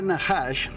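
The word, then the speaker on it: נחש: Ven aquí arriba Entonces la palabra najash que aquí en el diccionario strong se escribe con seis con h nosotros en español diríamos con j con una jota no es el número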